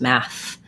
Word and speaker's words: math: And then this is a voiceless th, meaning that it's not math, like in teeth or breathe. My voice isn't on, just math.